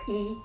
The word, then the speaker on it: 一: When E and Bu are followed by a character with the fourth tone, they both change to the second tone.